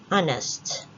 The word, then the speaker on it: honest: a consonant letter but it is a silent h or a soft h sound so we don't say honest but we say honest honest so we put n